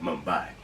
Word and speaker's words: Mumbai: I said the word it sounds like I pronounced it modified instead of Mumbai yet I digress so